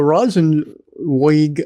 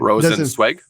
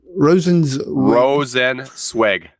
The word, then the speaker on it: Rosenzweig: I just hope Alyssa Rosenweg. I hope you apologize for mispronouncing that. Rosenzweig. Mm-hmm. Alyssa Rosenweg. Rosenzweig. Swig. But I hope she doesn't leave also.